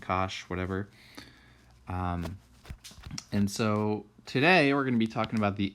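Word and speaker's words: cosh: hyperbolic sine hyperbolic cosine this pronounce some cinch and Kash whatever um and so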